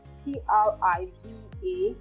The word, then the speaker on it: privacy: The most common pronunciation is the American pronunciation. We all use that. Privacy. But the British pronunciation of that word is privacy. Privacy is not so common, but sometimes you could hear it on TV if you pay close attention. So privacy for British pronunciation and privacy for American pronunciation.